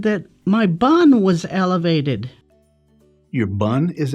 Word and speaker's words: BUN: It's not bun, it's B-U-N, and this is a lab value. It stands for blood, urea, nitrogen, and that's how it's pronounced, B-U-N.